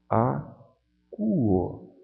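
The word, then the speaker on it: ἀκούω: Eu leio acuo. Essas duas vogais juntas aqui, este ditongo, eu leio como se fosse um U.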